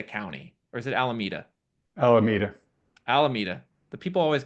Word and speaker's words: Alameda: Look at Alameda County, or is it Alameda? Alameda. Alameda. The people always get me on the pronunciation of some of these areas in California.